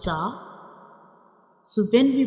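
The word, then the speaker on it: ز: This is the inner view of mouth, how we pronounce za.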